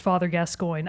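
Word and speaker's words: Gascoigne: the ass but I also I know it's pronounced father gascoin I'm preer gascoin that's how we say it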